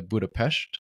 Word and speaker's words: Budapest: pronunciation because I know most people here would probably say myself included would say Budapest but I've heard a lot of more local people would say something similar to Buddha PES not but budapes okay budapes it is